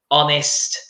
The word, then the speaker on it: honest: nest our under okay we do not pronounce the H in those words yes an Italian exactly